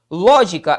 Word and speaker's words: lógica: e ó tiro dois lógica é uma palavra proparoxítona lógica perfeito portanto acentuada na antepenúltima sílaba proparoxítona anti penúltima sílaba